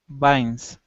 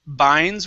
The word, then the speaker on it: vines: v sound okay so instead of binds with the b okay use your top teeth and your your bottom lip vines vines good nice job okay